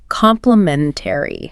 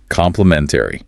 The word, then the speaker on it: complimentary: Let's practice the pronunciation of that because it is quite a long word. Complimentary. 5 syllables. Complimentary.